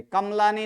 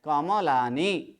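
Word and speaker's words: कमलानि: पर गलती कर ले कमलानी नहीं है कमलानी बोलेंगे तो फिर क्या होगा म को क्या करना पड़ेगा आधा आधा जबक यहां पर म क्या है म कैसे है संपूर्ण अत म के बाद अ का उच्चारण करना है कमलानी ओके धन्यवाद चलिए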